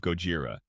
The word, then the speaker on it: Gojira: Their first product was Jira, a bug tracking tool whose name was a truncation of Gojira, the Japanese pronunciation of Godzilla, a nod to the competitor tool Bugzilla.